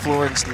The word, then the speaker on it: Fleuren: Kiki Fleuren. All right, that's it. Boz, you're scrunching up your face. I must have said Fleuren's last name wrong. It was all right. Fleuren. See?